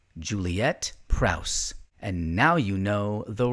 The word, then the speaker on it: Prowse: get into a little bit more on Miz Prrowse. Uh, by the way, for years I think I would I would pronounce her name Prrow. And I now realize I was saying it wrong. It is Prrowse.